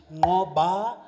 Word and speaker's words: Nqoba: And since Darren struggled with my name so much, it's actually pronounced Nqoba.